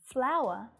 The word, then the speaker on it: flour: Flour and flower. So the pronunciation here, we have a diphthong sound and the schwa sound /aʊ/ /ə/ /aʊə/ flour.